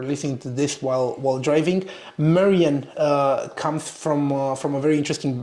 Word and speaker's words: Marion: Your name is Marion, the proper pronunciation in French, but your last name is Scottish.